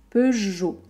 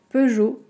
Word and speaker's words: Peugeot: de regarder heureux nos un peu comme peugeot on a le et le o2 dans les mêmes voyelles peugeot renault peugeot renault si